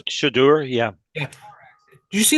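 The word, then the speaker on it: Shedeur: Shamir Sanders, I think his name is. Shadur, yeah.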